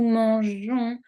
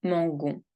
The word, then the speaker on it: mangeons: Je mange, tu manges, il mange, nous mangeons. Tengo que añadir la E porque si no pronunciaría mangon. Añado la E y puedo pronunciar mangeons.